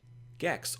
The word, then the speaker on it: Gex: Gex, or Jex depending on your pronunciation, lived in Hawaii with his family.